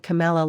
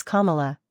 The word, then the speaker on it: Kamala: she actually used to pronounce her name Camala like Pamela back in the day she claimed citing a 2020 Caribbean newspaper headline that misread its Kamala rhymes with Pamela when questioned Morrow accused